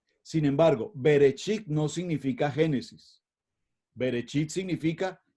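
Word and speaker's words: בראשית: Génesis en español pero en hebreo cómo lo pronunciamos beresit sin embargo berechit no significa Génesis berechit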